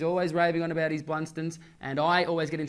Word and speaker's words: Blundstone: He's always raving on about his Blunstones. And I always get in trouble for saying it wrong. Yep. So it's Blunston. That is how you say it. So it's not Blundstone. No, it's Blunston.